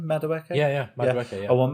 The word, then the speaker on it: Madueke: Madueke?